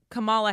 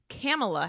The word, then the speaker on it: Kamala: read things okay as kamala harris but then i watched an snl sketch that said it's pronounced kamela harris like pamela but camella okay you said snl